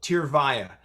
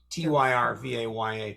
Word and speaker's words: Tyrvaya: How do you pronounce the name of it? It's a tough name, but it's actually pretty simple. Tyrvaya, Tyrvaya.